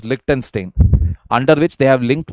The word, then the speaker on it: Liechtenstein: Yeah, this is pronounced as Liechtenstein, under which they have linked markets in return for investment.